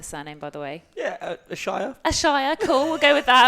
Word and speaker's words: Ashayer: Yeah, Ashayer.